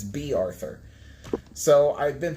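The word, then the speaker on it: Bea Arthur: I always used to think that name was pronounced Baya as in like Baya Arthur but apparently Baya Arthur's name is not Baya Arthur it's B Arthur so I've been pronouncing it wrong for decades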